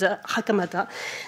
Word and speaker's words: Hakamata: very much hideko hakamata everybody says the real pronunciation is hakamata and the lawyer hideo